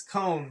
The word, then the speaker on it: Cone: case on the phone yes cone pronounced cohn good insights on what